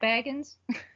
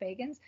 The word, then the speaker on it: Bagans: So Zach Baggins, I said it wrong. Zach Bagans, you're not going to go.